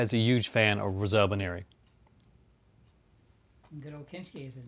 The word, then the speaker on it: Rosalba Neri: Pronounce her name because I'll get it wrong. Rosalba Nero. Rosalba Neri. So my dad is a huge fan of Rosalba Neri.